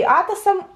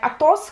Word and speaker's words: Атос: Потому что первое, что хочется сделать, прочитать Атос, как вот в «Трех мушкетерах», но это Атос, и вот главный герой он, собственно.